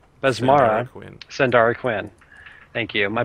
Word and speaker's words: Besmara: And the other is the cleric of Basarma. Besmara. Sandara Quinn. Thank you. My pronunciation is not very good at all.